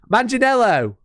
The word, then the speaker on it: Manganiello: Oh shit, how do you pronounce it again? Manganiello.